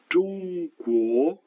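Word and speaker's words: 中国: Le groupe de consonnes à présent, on commence avec ZH. Alors le cas le plus représentatif, c'est bien sûr la Chine. Zhongguo, Zhongguo.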